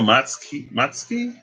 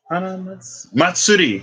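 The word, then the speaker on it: 祭り: Um, I know Matsuki, not Matsuki. How do you say festival in Japanese? I should know that. Yeah, it meets no Matsuki. Matsuri. That's what it is.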